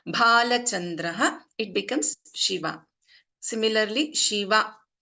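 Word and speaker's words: शिव: Similarly, Shiva is a ending with a hrasva, short vowel. We are not prolonging, which means Shiva Shankara. If I prolong the last letter here, Shiva, it becomes Devi.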